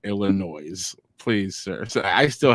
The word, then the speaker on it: Illinois: We got Virginia Anderson from Galesburg, Illinois.